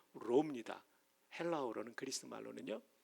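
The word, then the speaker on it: ρ: 이게 P가 아니라 R 발음 나는 로입니다.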